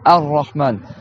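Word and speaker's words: الرحمن: C'est pour ça que quand je mets le mot tout seul, je dis Ar-Rahman. Mais dans la liaison de la Fatiha, je dis Bismillahir-Rahman.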